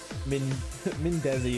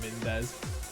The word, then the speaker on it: Mindezi: Yeah, Mindeezy, Mindezi is obviously correct, not Mendez.